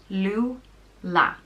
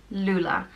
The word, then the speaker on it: Lúile: The next name is Lúile, and it means child with thick hair, and it's pronounced Lúile. Lúile.